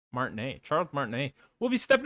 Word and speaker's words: Martinet: How do you pronounce his last name? Smart name. Martinet.